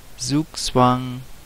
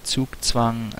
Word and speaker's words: Zugzwang: I'm now a little bit in Zugzwang, because I could actually pronounce it right since I am German, and it shouldn't be too hard to say Zugzwang correctly.